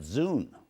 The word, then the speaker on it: Zune: right in your hand that Zune rhymes with dude foreign staying rhymes with